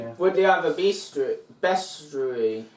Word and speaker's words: bestiary: Would they have a bestiary? Say bestiary, it's better. No, it's best. It's bestiary. It's bestiary. It's a book of beasts.